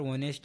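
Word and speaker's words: honest: रखना है, यहाँ पर कोई भी वर्ड अगर एच से स्टार्ट होता है बट एच साइलेंट रहता है, जैसा यहाँ पर आप देख रहे होंगे यहाँ पर ओनेस्ट लिखा हुआ लेकिन यहाँ पर एच साइलेंट है, इसके आगे भी हम एन का यूज करेंगे। दूसरा है होर, तो इसके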